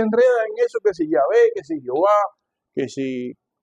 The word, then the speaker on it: Yahvé: La YHWH, eso se pronuncia en hebreo como Yahvé. Las traducciones no correctas, hechas al español, le pusieron Jehová. Eso no existe en el hebreo. Yahvé es la pronunciación correcta de Dios.